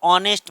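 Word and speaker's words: honest: सबसे पहले ध्यान रखोगे इसमें एच साइलेंट रहता ऑनेस्ट मैन आ आ तो यह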